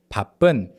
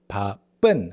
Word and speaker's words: 바쁜: So 오늘은, 바쁜. So this also refers to the distinction between the 비읍 and the 쌍비읍, double 비읍. So 바쁜, it's not 바쁜, it's 바쁜, okay, 바쁜, higher pitched.